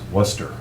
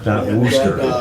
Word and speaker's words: Worcester: the name and so i noticed it's worcester right worcester yeah yeah not so not rooster it's like i know